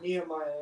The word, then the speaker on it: Nehemiah: Nehemiah. Okay. Uh-huh. All right, just getting my pronunciation correct, guys.